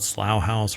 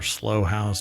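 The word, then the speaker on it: Slough House: called slow horses but it's called slow house or slow house depending on who you actually talk to um and the show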